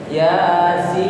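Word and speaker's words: يس: Makanya Yasin, ya-nya dibaca pendek seperti mat tabi'i, sin-nya dibaca panjang. Yasin, alif lam mim ro.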